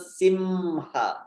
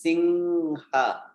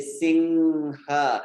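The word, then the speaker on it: Narasimha: There is an anusvara. So this is anusvara. It's that nasal sound where you don't even need to close your lips. So you can say singha and this will be correct. If you say simha, it's not correct. So singhaya is a correct way of singing, not simhaya.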